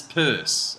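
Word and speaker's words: Peirce: C and Charles Sanders purse it's pronounced Pur it looks like Pierce I'd rather say Pierce because I feel like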